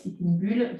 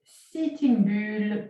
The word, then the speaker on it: Sitting Bull: Donc là, je prononce à la française, Sitting Bull, c'est-à-dire, ça veut dire taureau assis.